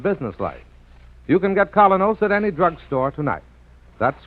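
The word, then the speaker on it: Kolynos: in Social and business life you can get colos at any drugstore tonight that's spelled k o l y n o colos toothpaste now back to Mr Keen as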